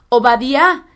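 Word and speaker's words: עובדיה: al profeta a díaz en hebreo su nombre es ovadía y significa servidor del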